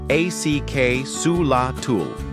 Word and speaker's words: axolotl: The axelottle, pronounced acula, is a type of salamander found only in Mexico's ancient lakes, like Lake Zochilo.